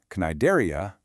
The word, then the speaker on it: Cnidaria: The phylum, Cnidaria, starts with a silent C, just like the sea where it lives.